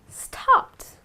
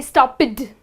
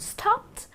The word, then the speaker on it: stopped: sound goes unvoiced well you pronounce the e d as T for example stopped okay now you're not going to say stop it now there are people